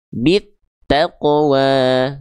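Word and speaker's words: بالتقوى: Cara bacanya dari bi ini langsung dimasukkan ke huruf tan-nya bit gitu. Karena yang ada tanda syamsiah atau tasdidnya adalah huruf t-nya ya. Bit taqwa gitu.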